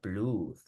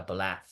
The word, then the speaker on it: blood: Let's say Sangre es con doble O, pero no se pronuncia blood, se pronuncia blood.